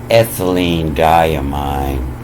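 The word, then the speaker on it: ethylenediamine: Just the first 15 letters of it, I believe, would be pronounced as ethylene diamine.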